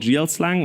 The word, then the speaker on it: GLSL: this is written in a language called GL slang or GLSL if you want to shell it a spell it out and let's work quickly